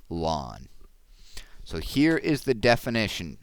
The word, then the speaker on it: ln: a natural logarithm that's abbreviated Ln and pronounced lwn so here is the